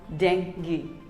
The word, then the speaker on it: dengue: here is another word it is not dengue or dengue it is simply called dengue that's right dengue dengue